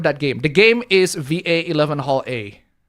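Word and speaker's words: VA-11 Hall-A: The game is VA1 Hall A. It's Valhalla, but the double L's are spelled with 11 instead of double L's.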